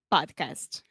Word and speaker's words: podcast: Podcast. Yeah. And also the second A is the same sound in WhatsApp, Snapchat is the A.